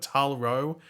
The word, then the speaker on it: Tal-Rho: But Tal-Rho was the pronunciation.